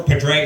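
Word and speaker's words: Padraig: I've always liked the golfer Padre Harrington from Ireland, and they spell that P A D R A I G."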